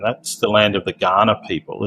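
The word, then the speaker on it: Kaurna: still land of the Ghana people it's it's written with a K it's k a n a it's pronounced Ghana like the country in Africa okay Ghana nation has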